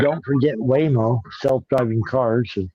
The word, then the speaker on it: Waymo: We covered all we covered all those more Whimo. Don't forget Whimo. Self-driving cars. Whimo.